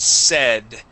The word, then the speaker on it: said: let's take a look at said. So here you had said said using a long A, say. Okay. This is Yeah. a short E sound.